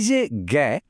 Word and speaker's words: যোগ্য: আচ্ছা, এই যে গ্যা, এর উচ্চারণটা এখানে কি হবে বলে মনে হয়? এর সঠিক উচ্চারণটা হলো যোগ্য। দেখুন, গ্যা এখানে ভেঙে গিয়ে গ আর গ এর মতো একটা সাউন্ড তৈরি করছে।